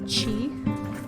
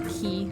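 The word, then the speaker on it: Qi: through I have never romanced him before uh chi that's how you pronounce his name I always thought it was key the first time I met him but then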